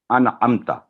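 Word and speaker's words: أنعمتَ: आवाज़ लंबी होती है, वरना इसको अनअमता, तो अनअमतु भी ना हो, अगर ये ज़बर की जगह पेश लगा देंगे तब भी माने चेंज हो जाएंगे, अगर छोटी आवाज़ को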